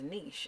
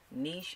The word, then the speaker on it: niche: And he says, no, the word is niche. And I said, actually, it's pronounced both ways. Niche and niche, it's all the same thing.